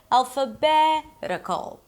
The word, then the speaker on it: alphabetical: The suffix is -ical, primary stress, one syllable before the suffix, alphabetical.